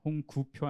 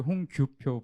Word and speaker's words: 홍규표: 맡고 있는 홍규표 부장입니다 제 이름이 좀 어렵죠네 발음을네 홍구표 아니고 홍규표 부장입니다네 아 지금 제일 힘드실